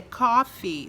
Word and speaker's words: coffee: E outra coisa, quando a gente pronuncia a palavra coffee, né, a gente tem que tomar cuidado. É coffee, não é coffee, é coffee. Porque se você fala somente cough, aí você tá falando disso, de tossir.